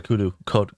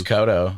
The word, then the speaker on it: Kodo: Kodo or Kudu? It's Kodo. Kodo?